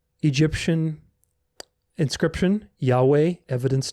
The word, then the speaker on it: Yahweh: By the way, the accent in the divine name is on the last syllable. That is why there is a short vowel on the first syllable. So it's not Yahuwah, it's Yahweh, Yahweh, Yahweh.